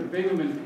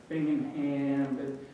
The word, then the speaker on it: Bingaman: I worked for Senator bingaman people didn't even know how to say his name name hard to influence somebody if you can't pronounce their name bingingham and I would say